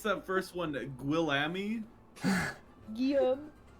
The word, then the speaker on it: Guillaume: Guillaume. Guillaume. That's how they say William in French.